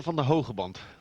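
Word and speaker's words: Pieter van den Hoogenband: Did Did I pronounce Hugenban correctly there, Alex? Pieter van der Hogeband.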